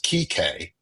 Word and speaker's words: Kike: It is Kike, is how it is pronounced Like in Kike Hernandez from the Dodgers.